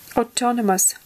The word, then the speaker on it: autonomous: accurate approachable articulate attentive autonomous autonomous на о ударение Независимый самостоятельны имеете как